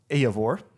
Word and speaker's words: Eivor: So it says that this not only features Faroese vocalist Eivor.